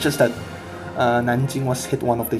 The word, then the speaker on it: Nanjing: one which would be the battle of nanjing or nan king as the most of the west would pronounce it so a bit